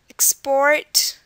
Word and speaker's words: export: One rule is that most 2-syllable verbs this will happen in most 2-syllable verbs, that the stress will be on the last syllable, just as we saw here. Present, export, decide, begin. These are examples of words where verbs, where the syllable, or the stress syllable is the second one.